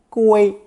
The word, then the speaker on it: 规: Pronounced first tone 归.